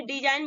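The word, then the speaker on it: design: है डिजाइन ठीक है डिजाइन में भी देखिए आप यहां पे एन से पहले आपका जी आया है तो जी को हम साइलेंट करेंगे और इसको हम क्या बोलेंगे डिजाइन बोलेंगे उसके बाद नेक्स्ट लेते हैं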